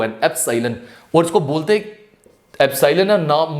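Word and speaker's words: epsilon: symbol जो होता है इसे बोलते क्या है एप सालन मैं स्पेलिंग भी लिख लेता हूं ई पी एस आई एल ओ एन एप सालन और इसको बोलते एलन नाम मीनिंग क्या हो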